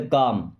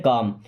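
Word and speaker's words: calm: keep काम and work, keep means होता है रखना या रहना, काम देखिए इसको एल साइलेंट होता है, इसको कॉलम नहीं पढ़ते, काम क्या पढ़ते हैं काम, कीप काम मीन्स शांत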